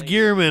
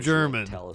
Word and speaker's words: Gearman: was stabbed to death apparently it's gearman i was calling him german to the crime and so my apologies i've been getting his name wrong with the fact that